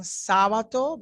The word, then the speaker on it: Sábato: I'm saying Sábato because the A has an accent.